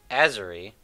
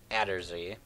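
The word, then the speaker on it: Atzerri: So last time, guys, before we ended, I called this place Azery. It actually Adderzy. It's actually Adderzy. Someone actually told me how to pronounce it, which is kind of cool.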